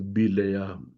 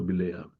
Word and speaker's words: Bileam: The Hebrew pronunciation is Bileam. The Malayalam pronunciation is also Bileam.